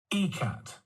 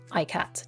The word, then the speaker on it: ikat: and I decided I should double check the pronunciation ecat and I'm glad did or I would still have been pronouncing it IAT just like I would read that so um